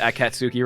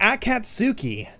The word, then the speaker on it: Akatsuki: know oh my god i hate myself pronouncing it at katsuki right there okay i hate my ah the akatsuki are you you you know